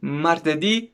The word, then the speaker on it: martedì: And I don't know if you know it or not, but from Monday to Friday, the stress is on the last syllable of the word. So you can say like this: lunedì, martedì, mercoledì, giovedì, venerdi.